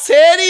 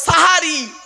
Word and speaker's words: সাহারি: বলেন বাবা জোরে বলুন ও বাপ শেরি নয় শব্দটা শব্দটা হলো সাহারি কি সাহারি সাহারি দন্তেস একার নয় দন্তেস আকার দন্তেস এককার বলবেন না একার বললে মানে আলাদা আর আকার বললে মানে আলাদা সেহেরি নয় সাহারি সেহেরুন মানে